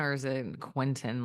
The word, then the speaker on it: Quinton: like some people say is it Kinton how do you say it it's it's the the gentleman that historically it's it's named after because he just he discovered it as Rene Kon oh Kon okay oh yes I